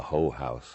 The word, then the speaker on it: whorehouse: And there was a whorehouse, a hoe house.